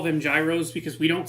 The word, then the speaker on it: Gyros: it's the only word it's the only Greek derived word that starts with g y r o that we don't pronounce with a soft G um yeah I'm not